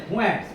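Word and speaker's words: Fuentes: फुंटेस नहीं, फुएंट्स, फुएंट्स पढ़ते हैं जल्दी। प्रोनाउंसिएशन क्या है? फुएंट्स, है ना।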